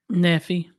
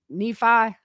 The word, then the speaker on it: Nephi: you say this name i will be like neffy nephi i say neffy we southern y'all we just say it how we how we see it yeah i say neffy ph is normally an